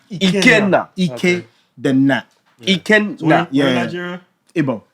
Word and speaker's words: Ikenna: You guys are saying it obviously the standard British way, but it's like my Nigerian Igbo, I would say please. Ikenna. Ikenna. Ikenna. Ikenna.